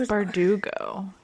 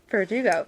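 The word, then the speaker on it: Bardugo: Lee Bordeaux, which I might still be saying her last name wrong. I think it's Verdugo. Verdugo.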